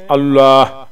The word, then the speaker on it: اللہ: اللہ اور اللہ، اللہ یہ صحیح تلفظ ہے اور اللہ غلط ہے. کافی لوگ کہتے ہیں اللہ اکبر یا اللہ، یہ غلط ہے. صحیح کیا ہے؟ اللہ. تھوڑا سا موٹا پڑھنا ہے اللہ، موٹا موٹے سمجھ لیں،